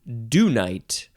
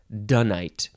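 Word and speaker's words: dunite: is a dung Hill next is do night I think that is how you say it do night or you could also just say it donite d-u-n-i-t-e noun from Circa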